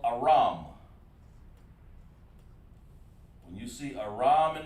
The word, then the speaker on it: Aram: And that's called Aram, just exactly how it's pronounced. Aram. Okay? Just like that. Well, it's lucky. We'll do it lowercase here like we're supposed to. Aram. Okay? Aram. Not Aaron, but Aram.